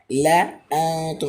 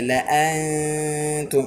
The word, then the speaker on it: لأنتم: ثمود فما ثمود فما ثمود فما لأنتم أشد لأنتم أشد আলিফে জাদা আসার কারণে এই আলিফটি উচ্চারণে আসবে না। এই যে লাআনতুম, এটি কিসের গুণা?